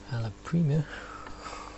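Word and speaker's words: alla prima: dry therefore if I'm painting Al Prima that's how you say it then uh you need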